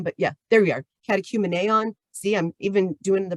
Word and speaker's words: Catechumeneon: oop that's acm but yeah there we are catechumeneon see i'm even doing the pronunciation for you guys um and they have